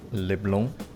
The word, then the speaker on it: LeBlanc: I like that Makoto actually pronounces it correctly. LeBlanc.